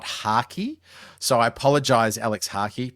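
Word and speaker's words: Harkey: Now, I've mispronounced his name in this intro. So, uh I've called him Harvey, not Haki.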